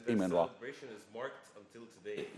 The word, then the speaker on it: Amun-Ra: We call him Amun, wrongly Amun-Ra. He's Imen-Ra.